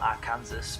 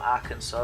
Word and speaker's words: Arkansas: state governor in Arkansas, spelled Arkansas, but Arkansas is how you say it, tried to stop them from coming in, got the National Guard to stop those kids from attending school.